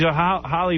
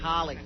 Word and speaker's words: Halle: But she's Halle Berry's a hot chick. Holly. Her name is Holly.